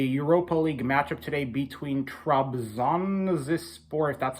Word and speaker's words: Trabzonspor: recap of the Europa League matchup today between Trump's on this sport that's how you pronounce the um the club's name and Red